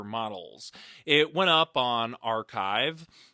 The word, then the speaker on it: arXiv: It went up on Archive. They spell it ARXIV, but it's pronounced Archive.